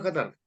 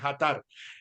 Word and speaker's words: Jatar: Y sí, tal cual lo dijiste, Hatar. Jatar, Es libanés. Esa J no libanés. existe tú sabes, fonéticamente en árabe es tar, tar, pero lógicamente quedó en Hatar, más fácil.